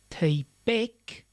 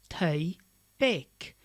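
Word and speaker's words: taigh-beag: able to hear that this is tabek and not thai beck it's not two words it's a compound word if we listen to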